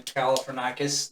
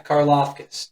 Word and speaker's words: Karlaftis: I really think, and George, I can't hardly say his name, Galifianakis, the end Kansas City's got. I think you build that line if he falls there. Karlaftis? Yeah, Karlaftis.